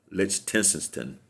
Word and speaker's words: Lichtenstein: Lichtenstein, that's how you pronounce his name, Nelson.